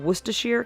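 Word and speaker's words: Worcester: of saying everyday words name like Lester and wacher can cause tourist problems because they aren't pronounce anything like how they look other words can be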